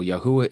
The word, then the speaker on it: Yahuah: So Yahuah is the name of the creator.